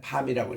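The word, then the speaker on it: palm: 이게 우리 손바닥을 팜이라 그러는데, 여기 지금 L이 묵음이에요. 그래서 할 때는 읽을 때는 그냥 팜이라고 읽습니다. 팜추리.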